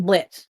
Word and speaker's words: Blit: Like you hit the T almost like a D.